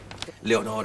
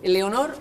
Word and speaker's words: Leonor: es Leonor hermosa segur Leonor son dos sílabas eh No puede ser Leonor No no cómo es Aunque tú en la calle digas Leonor hermosa aquí tiene que ser Leonor porque si no no sale una sílaba de Leonor y una pequeña pausa